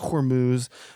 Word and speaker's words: Hormuz: Yes, and it's pronounced Hormuz, or as I like to pronounce it, Hormel chili.